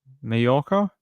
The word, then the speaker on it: Mallorca: What did I pronounce wrong? Mallorca? Did I pronounce that wrong? I probably did. Yeah, yeah, sorry. No J, it's a Y.